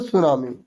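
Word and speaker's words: tsunami: तो तो उसे बोलते सुनामी इसमें टी साइलेंट होता है ठीक है फिर नेक्स्ट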